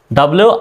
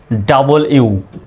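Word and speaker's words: W: একটা লিখলাম ডাবল ইউ এটাকে অনেকে ডব বলে তারপরে ডাব বলে কিন্তু সঠিক উচ্চারণটা কিন্তু ডাবল ইউ ডাবল ইউ ডাবল ইউই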